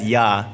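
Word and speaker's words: Я: So we had this email come in, and the story was called Rarity, but it had like a backwards R as in Russian, and you pronounce that letter as Ya.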